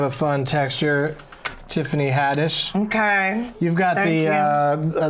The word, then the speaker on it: Haddish: name that part right hadish how do people say your name wrong people say it wrong do they say hadish they be like like Kish like that's probably more